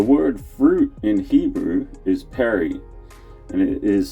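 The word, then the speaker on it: פרי: The word fruit in Hebrew is peri, and it is spelt with 3 characters from right to left.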